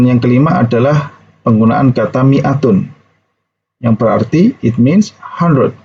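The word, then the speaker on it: مائة: Mere huzoor fall if dalam kata Miatun itu tidak diucapkan Nih Adik tidak diucapkan niat Miatun atau seperti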